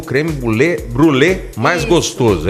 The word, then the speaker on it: brûlée: A pronúncia certa é brûlée.